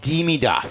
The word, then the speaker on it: Demidov: I think He could Demidov be has the that.